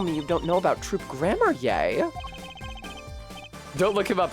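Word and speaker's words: Troupe Gramarye: well I guess now we do know how it's supposed to be pronounced troop grammar okay troop grammar I'll say it like that thanks for the heads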